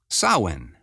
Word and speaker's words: Samhain: very soon just in a matter of days Sinn the Festival of Kelts which celebrates the beginning